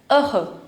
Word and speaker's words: heureux: The next one, happy, is also known as heureux. Heureux. Remember, this H is always silent in French. We write it, but we don't pronounce it.